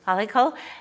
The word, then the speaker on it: Palackal: Am I pronouncing that right? Palackal.